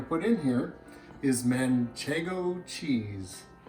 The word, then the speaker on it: Manchego: So the last ingredient we're going to put in here is Manchego cheese. I like to pronounce it Manchego, so that when I'm grating it, I can sing, "Whoa, Manchego Bay."